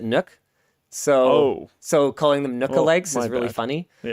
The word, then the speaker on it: NUC: Because I think Intel actually pronounces it Nook.